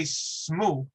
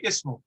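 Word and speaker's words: اسم: would be like that how would you pronounce it you could say smoo but isn't it easier to say ismu isn't it a little bit more easier on the tongue and fluid that's what the rules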